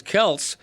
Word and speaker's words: Kelce: I mean, Travis Kelce is Travis Keltz, but he's pronouncing it Kelsey because everybody else does.